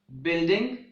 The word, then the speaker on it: building: silent letter is you the following words having the combination of B you I or GU I have a silent you like building guilty guitar guild and guys in these words letter U is silent the words guests and